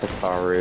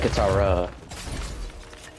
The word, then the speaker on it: Katara: Wait, that's not Kataru. That's... Not. I meant Katara.